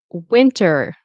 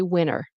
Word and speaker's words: winter: Winter. Winter. Win is where the uh the stress is. And it's possible in winter that we don't pronounce the T. Sometimes we'll say winner, which does sound like,